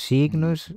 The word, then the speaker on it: sign: escrita não funciona os signos os signos critos já há muito que se divorciaram do só sign tu não dizes G nenhum tá lá só por é o desenho do som Sign tu podias dizer